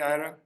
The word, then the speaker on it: Ira: Am I am I pronouncing your name correctly? Ira.